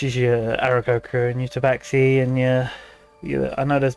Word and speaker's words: Tabaxi: Tabaxi, yeah.